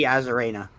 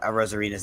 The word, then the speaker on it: Arozarena: He runs faster than Randy Arozarena. Arozarena. Sorry, I butchered Arozarena's name. Randy Arozarena. You said you almost said it right. It's a Rice-A-Roni. You were so close.